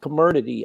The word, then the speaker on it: Comirnaty: So the truth is that it's called Comirnaty, I believe that's how it's pronounced, is the BioNTech product.